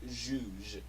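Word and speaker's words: zhuzh: or with a face with makeup it is pronounced Jews sounds fun new French but kiss truth do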